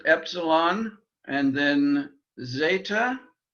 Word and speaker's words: zeta: letters epsilon and then zeta or actually a little softer z zeta um something like if you were pronouncing it d s zeta it's the z sound that we the only sound that we have in greek um and uh we